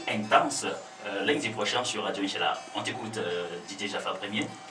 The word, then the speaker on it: Inch'Allah: Il faut bien prononcer, hein, c'est Inch'Allah. Inch'Allah.